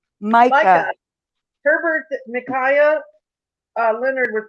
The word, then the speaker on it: Micaiah: Macaw? Micah.